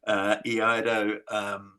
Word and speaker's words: Iaido: I looked for one for a long time, and I wanted to do Iaido, which is how you say that word. Iaido, instead of, I did karate because I couldn't find an Iaido teacher.